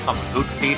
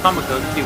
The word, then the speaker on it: Tamagotchi: And now, I know Tamagotchi would actually be the correct pronunciation, but it sounds so weird to me. I grew up calling it Tamagotchi for so long.